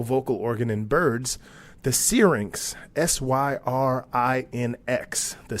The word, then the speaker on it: syrinx: from time to time I refer to this organ as the sphere ynx I have no idea why I want to pronounce it that way but I do and it slips out that way from time to time but it's the syrinx so we talked about